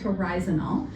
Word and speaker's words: horizonal: There's no T in it. It's horizonal.